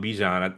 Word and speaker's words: Bijan: The running back, we've been pronouncing his name wrong, Bijan. It's like some other Bijan people.